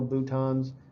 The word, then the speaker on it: bouton: sound more interesting, but it looks like button, it's spelled button. But if you have a teacher or if you go to a neuroscience conference, you're going to hear this called a bouton, and I still think it's kind of funny.